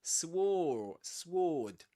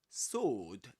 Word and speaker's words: sword: Just like in sword, as we discussed before, you don't say sword, but sword.